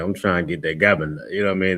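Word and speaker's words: גבינה: Next up is cheese, and it's pronounced gabana, gabana, and it's spelled GABANAH.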